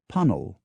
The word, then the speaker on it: Puncknowle: that Postwick is Posick, Puncknowle is Punnell, Keigley is Keithley, Holnicote is Honeycutt.